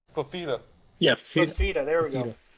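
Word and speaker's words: Fifita: Fafita.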